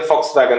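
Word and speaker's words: Volkswagen: हाँ लेकिन, यस, तो वो जो वी ओ एल के लिखते हैं, लेकिन वो वी जो है वो प्रोनाउंस होता है फॉ से, इसलिए फॉक्स वैगन होता है।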